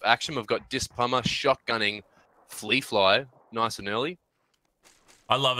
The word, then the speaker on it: Flea Fly Flow: Fly Flow was well, I said Fleepy Flow. Fleepy Flow. Yeah. So that was a bit funny to try to say his name, and then Cal was like, "Oh, it's Flea Fly."